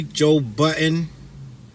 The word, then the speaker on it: Joe Budden: I used to say Joe Buddens with the S, and everybody used to clown me for that. I say it from time to time, but I'm gonna say it right today.